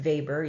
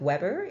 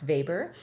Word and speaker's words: Weber: of our leading sociologists Max vber it's it's pronounced vber even though it's spelled um we b r like Weber it's Max vber um and he was um one of the